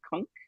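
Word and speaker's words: Cunk: Kunk rhymes just junk. I'll spell it out just in case, because I think it's supposed to be a funny pun as well. It's C-U-N-K, as in kangaroo.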